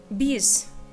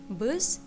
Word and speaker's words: biz: Biz means we. Actually, here most of us just pronounce it like buzz. We just write it like bees, but most of us pronounce it like buzz.